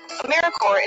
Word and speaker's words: AmeriCorps: AmeriCorps is alive and well, just spelled with a silent P. So think of Apple Corps or Core of the Earth.